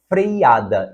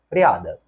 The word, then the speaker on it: freada: esta nasalidade aqui e a terceira palavra freiada está errada não existe esse I nós vimos essa palavra também o correto é freada portanto tendo consciência de